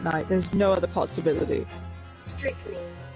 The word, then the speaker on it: strychnine: Strychnine. It just doesn't look like the word. It doesn't look like it. That's how you say it. That's how you say it. Strychnine.